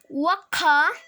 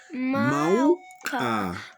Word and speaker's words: mauka: Waka. No, no es waka. Mauka.